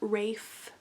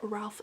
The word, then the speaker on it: Ralph: the guy's name wrong it's like rafe something but i always said ralph fiennes but voldemort you know